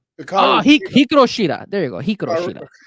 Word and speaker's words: Hikaru Shida: It's just how do you pronounce her name? Oh no, Hikaru Shida. Hikaru Shida.